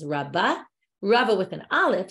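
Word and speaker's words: רבה: Rava Amar, but Rava with an aleph, that's different Rabba with a hey, we pronounce it as Rabba.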